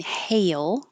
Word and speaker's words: hail: So, hail, hey, like you're going to say, hey, your tongue starts low and your jaw more open. Hey, and rises until you get to the E position and then slides down and up for an L. Hail. So it's almost two syllables.